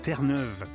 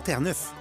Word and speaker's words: Terre-Neuve: Je pense que le macaru est un véritable oiseau fier et noble et on prononce Terneuve, pas terre neuf ou Nouvelle-Finlande.